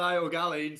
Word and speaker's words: Ó Gaillín: I hope I'm pronouncing your surname right. How are you? Not too bad, not too bad. Ó Gaillín, so Ó close enough.